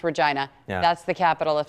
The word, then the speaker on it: Regina: It's Regina, spelled Regina, pronounced Regina.